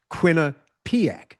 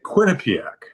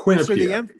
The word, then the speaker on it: Quinnipiac: I don't know, 100% chance that I would pronounce it wrong. I don't know why. It's actually pretty easy, but it is Quinnipiac, yes?